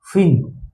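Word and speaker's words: fin: अब आते हैं एफ आई एन फिन मछली का पंख होता है ना?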